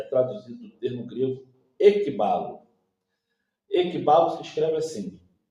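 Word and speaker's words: ἐκβάλλω: a palavra conduzir é traduzida do termo grego equibalo equibalo se escreve assim e k b a l l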